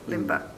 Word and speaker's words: Limba: That's very pronouncable. Limba.